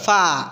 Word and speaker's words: far: ফা ইজ ইট সো ফা এখানে Is it so far? আরটা উচ্চারণ করবেন না এখানে ইজ ইট Okay.